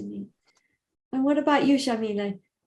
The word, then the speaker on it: Yamile: And what about you, Shamila? I'm saying your name wrong. I know I am. Jamila. Shamile. Oh, I am saying it okay then.